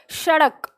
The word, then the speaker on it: सड़क: यह इसका उच्चारण सड़क अब अगर इसको डी ही बोलोगे जैसा डमरु तो सड़क होना चाहिए था लेकिन हम सड़क नहीं बोलते क्या बोलते हैं सड़क तो इसका उच्चारण स्थान